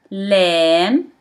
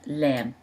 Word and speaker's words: لام: That's how we write lam. It looks like L. It pronounced as L in English, so it's easy to remember.